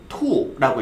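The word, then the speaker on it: 兔: 그 다음에 토끼는 이빨이 툭 튀어나왔다라고 생각하시면서 투라고 읽어주시면 돼요.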